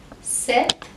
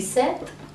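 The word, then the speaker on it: sept: and DS now please remember the number 7 mispronounced test set and not set the beer is silent now let's move on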